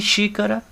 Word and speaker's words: xícara: o acento viram aqui xícara a sílaba tônica é o xi xícara eu vou desenhar rápido